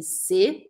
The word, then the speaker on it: ces: Se escreve C-E-S. Ou em português, C-E-S. E eu não vou falar esse S, eu vou falar C.